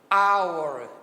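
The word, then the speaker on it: hour: para vocês terem ideia essa palavrinha hora em inglês ela começa com h mas a pronúncia dela é a hora aor bom então eu uso n e não há porque porque eu uso a antes de palavras que começam com som de consoante l som de vogal aqui apesar de estar com h mas a pronúncia é our então em our ok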